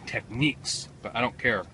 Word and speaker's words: Technics: God it's really heavy Technics you know I think I mispronouncing that a lot of people tell me it's techniques but I don't care